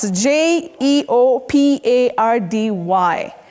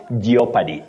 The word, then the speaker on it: jeopardy: in Jeopardy Jeopardy not geopard many people innocently say geopy but that o the O in that word is Silent not pronounced just like in the word jeopardize you don't say geopad